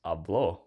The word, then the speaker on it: habló: So, for example, hablo, which means I speak, versus habló, which means he spoke.